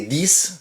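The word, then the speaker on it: dix: 6 et 10 s'écrivent avec X, mais se prononcent avec S.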